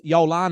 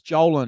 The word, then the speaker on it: Jolan: He goes, Yolan, is it? And I go, no, it's Jolan.